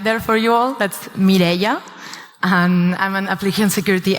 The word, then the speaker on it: Mireia: So I left a bit of a pronunciation guide there for you all. That's Mireia.